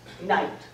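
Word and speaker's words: knight: Chaucer pronounced the K. He pronounced that GH as a kind of explosion of breath. Knicht. And the vowel in the middle is ich. Shakespeare says night. No K, no GH, and he changes the vowel.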